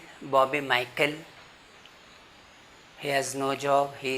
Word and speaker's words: Michael: Now see here it is CH, but that is actually not CH sound, it is K sound, Michael.